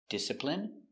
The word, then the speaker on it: discipline: Words ending in I N E can have different pronunciations. All of these have the sound in. Imagine, examine, engine, discipline, feminine, and masculine.